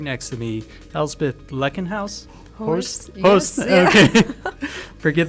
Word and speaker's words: Elsbeth Blekkenhorst: Yeah, I'm Elsbeth Blekkenhorst. That's the right pronunciation.